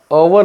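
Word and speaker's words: hour: मी जर म्हटलं असेल अवर स्पेलिंग जरी एच ने सुरुवात झाली पण त्याला त्याचा उच्चार कसा आहे अवर आहे अवर मग अ काय आहे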